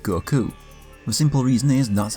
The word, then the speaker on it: Goku: the way I said Goku. The simple reason is that's how it's pronounced. Watch anything in the language that word is from and you'll hear the emphasis placed on the second syllable.